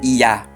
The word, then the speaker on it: Yah: todos os estudiosos que se pronuncia o Yah em língua portuguesa, Iá, I e o A no acento no A.